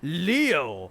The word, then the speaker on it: Leo: most vulnerable leo ayanokoji it's written with the kanji for lion to be sure and it's pronounced leo i wager you're impressed